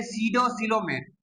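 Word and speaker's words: pseudocoelomate: पी यहां पर क्या है? साइलेंट है। बहुत सारे बच्चे यहां पर भी कंफ्यूज हो जाते हैं। मगर यहां पर पी क्या है? साइलेंट है। उसे हम कहते हैं सडोसिलोमेट।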